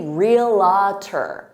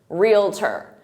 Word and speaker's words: realtor: by native speakers because some native speakers add an extra syllable and they say realtor, realtor, and they say it with 3 syllables, realtor, when in fact it's 2 syllables, realtor, realtor.